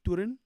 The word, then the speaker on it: Toruń: Toruń. Toruń.